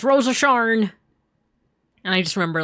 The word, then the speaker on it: Rose of Sharon: And uh I remember there was like a character named Rose of Sharon, but like they would always pronounce her name as like Rosa Shar. It's Rosa Sharn.